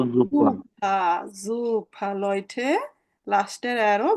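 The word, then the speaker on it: Suppe: হ্যাঁ, আমরা এখানে সুপা বলা যাবে কি? না, এটা কি? বলতো জুপা।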